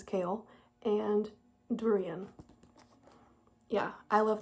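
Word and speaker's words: Chaol: which I've been reading his name was Cole his name is kale and durian yeah I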